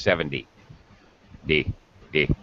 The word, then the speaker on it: seventy: indeed you are correct the first syllable gets stressed 70.